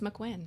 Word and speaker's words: MacQuinn: It's MacQuinn.